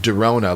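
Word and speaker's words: Drona: hickman um but i think it's pronounced darona like it's a play on corona virus i got darona oh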